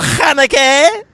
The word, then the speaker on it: Haneke: Is that the correct pronunciation? Yes, Michael Haneke.